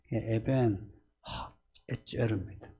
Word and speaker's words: 에벤에셀: 거기에 이제 그냥 히브리 발음 그대로 하면 에벤 에젤입니다. 이렇게 앞에 H 발음 에젤.